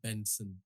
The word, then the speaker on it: BNXN: It's pronounced Benson, BNXN.